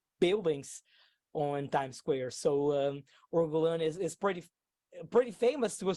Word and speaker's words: Or Golan: How do you spell it? It's OR. ORGOLAN. OR GOLAN. Yes, ORGOLAN. LAN. Yes, it's as simple as that. It's easy to pronounce it in English. It's easy to pronounce in Portuguese.